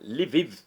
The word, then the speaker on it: Lviv: Lviv. L mudo. L mudo, VIV, Ucrânia.